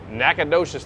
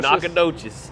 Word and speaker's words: Nacogdoches: We're getting ready to head out to Nacogdoches, Texas. You said it right. Nacogdoches.